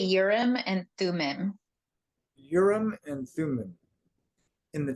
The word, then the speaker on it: Urim and Thummim: I say Urim and Thummim.